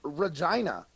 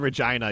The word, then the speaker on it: Regina: It rhymes with fun. Bun. I'm in the town of Regina.